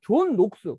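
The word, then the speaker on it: Knox: 그래서 이러한 사고가 영국에서 18세기 정도에 번성할 수 있었던 게 뭐냐면 뭐 그냥 참고로 하면요, 존 녹스, 뭐 장 녹스라고도 발음하는데 정 녹스라고 하는 스코틀랜드 분이 유럽에서 켈빈주의를 받아들이면서 영국에 와서 이제 켈빈주의를 전파하죠.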